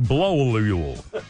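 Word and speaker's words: Blauel: It's spelled B-L-A-U-E-L, Blowlule.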